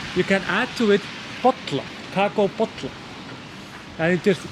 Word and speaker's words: bolla: And then you say bollar.